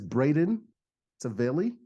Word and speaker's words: Braden Tavelli: And his name is Braden Tavelli. Is that the right pronunciation, Braden?